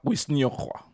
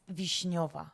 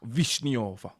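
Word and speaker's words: Wiśniowa: Soplika wisniowa. Almost. It's Vishnova. Wishniowa. The W is a V. The W's are a V.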